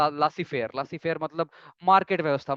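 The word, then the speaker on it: laissez-faire: इसके लिए एक फ्रेंच टर्म है, लासी फेयर बोलते हैं इसको, स्पेलिंग देख के लग रहा है कि लाइसेज, लाइसेज fair but pronunciation Lasi fair, Lasi fair मतलब मार्केट व्यवस्था, मार्केट डिसाइड करेगी और गवर्नमेंट या अथॉरिटीज उसमें इंटरवीन नहीं करेंगी।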